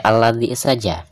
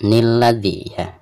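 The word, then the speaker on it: الذي: Anda tidak harus membaca nun wiqayah, Anda tidak harus membacanya sebagai nilladzi. Jadi jika kita ingin melanjutkan dari ayat kedua, cukup baca alladzi, tidak perlu nilladzi.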